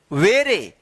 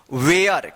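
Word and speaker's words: ware: उच्चारण होता है और लास्ट में इस ए का कोई उच्चारण नहीं होता है।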